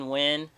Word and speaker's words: Nguyen: i would recommend justin nguyen um spelled like nyen right uh n-g-y-u-e-n i'll post